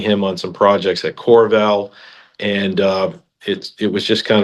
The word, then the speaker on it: Qorval: So my business is Corval. It's spelled Qorval Partners, and we are based in Naples.